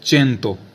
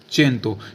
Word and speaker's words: cento: ठीक है, जैसे चेंतो, चेंतो, CENTO, यानी सी के बाद क्या आ रहा है? ई आ रहा है, तो चेंतो, इसको क्या बोला जाता है?